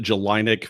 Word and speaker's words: Jellinek: do you pronounce it I pronounce it July Nick but you know I've heard enough variations over the year word anything close is acceptable Wow July Nick yeah